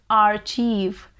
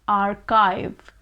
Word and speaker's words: archive: archive you know as a kid i also pronounce this word as archief our chief but then it finally dawned upon me that this word is pronounced as archive archive so archive is the correct pronunciation archive